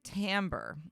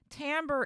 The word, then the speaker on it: timbre: second language and so that word sounds to you like I'm saying t-a-m-b-o-r or something like that but I am not it's spelled t-a-m I'm sorry it's spelled t-i-m-b-r-e it almost looks like